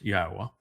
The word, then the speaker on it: Yahowah: And it's not Yahweh, it's Yahowah. Each of those letters is a vowel.